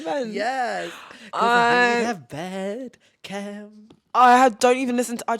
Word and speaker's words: Bed Chem: My what's popping of the week is Bedchem. Is that how you say it? What's it called? Pronouncing that like that was great. Bedchem. Bedchem? Bed chem, like chemistry. What the fuck?